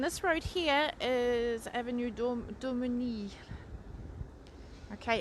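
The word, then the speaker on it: Daumesnil: And this road here is Avenue Domini. Okay, it has an S in it, but the S is silent, so yes.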